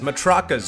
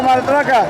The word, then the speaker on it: matraca: More music makers, drums, maracas, matracas, oh my! Well, ¿cómo se dice? Que suene la matraca. Matraca.